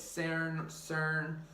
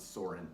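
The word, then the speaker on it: Søren: You can say it's Cern, Soren, there's a lot of different names. We are going to pronounce it Soren, S-O-R-E-N.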